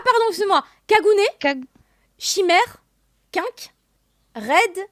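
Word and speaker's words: Quinque: Chimère, Quink, Red Chill. Je sais pas du tout. Attends, redis. Comment, dans Tokyo Ghoul, comment s'appellent... Oui, là, les propos. Ah pardon, excuse-moi. Kagune, Kag- Chimère, Quink, Red... Quink.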